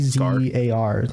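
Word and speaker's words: Tzar: ] the name was like t z a r spelled like that Zar oh Zar yeah that's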